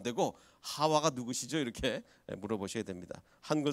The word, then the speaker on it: 하와: 사실 이게 하와에서 이브는 완전히 뭐 전혀 다른 발음인데 이게 단계를 거치다 보니까 이렇게 전혀 다른 발음이 돼버린 거죠.